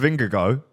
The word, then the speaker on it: Vingegaard: You know, do you remember that clip of Vingegaard? Apparently, that's how you pronounce his name now.